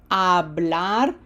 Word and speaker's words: hablar: The verb hablar, remember H is silent, hablar. Take a guess.